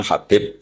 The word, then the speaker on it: Habib: Ada yang nulis Abi Abdurrahman Habib As-Sulami. Itu di harokatnya kitab itu ada yang nulis Hubab. Tapi yang benar, yang benar itu bacanya Habib. Habib itu Sulami itu ikut marga Robi'ah.